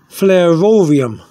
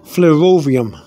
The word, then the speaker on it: flerovium: class L uh which is for the element flerovium Capal f l e r o v i u m f l e r o flero vum v IU M some people might pronounce it flum flum but uh but it's